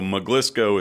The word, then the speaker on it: Maglisceau: name that a lot of people literally can't pronounce which is that's the whole impetus for Dr so mlco is the last name uh it's made up